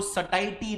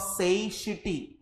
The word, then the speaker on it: satiety: Point of, Gujarati public इसको सटाइटी read करता है, बट इट is wrong pronunciation. It is point of सेशिटी. सेशिटी.